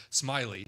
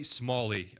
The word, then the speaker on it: Smalley: what I went to when I went to pronounce our guest's last name. But it is pronounced Roy Smalley here on Community Comment today.